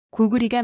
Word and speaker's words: 고구리: 여하간의 고구리는 고구려라고 발음하면 안 됩니다. 고구리가 맞습니다.